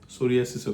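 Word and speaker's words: psoriasis: অক্ষরটা আছে যেটা সাইলেন্ট সোরিয়াসিসও কিন্তু সেরকম ওই নিউমোনিয়া বা থাইসিসের মত সোরিয়াসিসের প্রথমে একটা পি আছে যেটার উচ্চারণ হয় না মানে পিএস দিয়ে এরকম ভাবে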